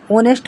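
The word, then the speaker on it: honest: नेस्ट लिखा है इसको एच साइलेंट है तो ऑनेस्ट पढ़ते हैं ऑनेस्ट देखो आ आ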